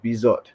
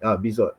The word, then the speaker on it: Bizot: Yeah, so Marco Bizot, I think, Bizot, that's his name. He is going to be on my watch list soon, I think it's and French. You don't pronounce the T.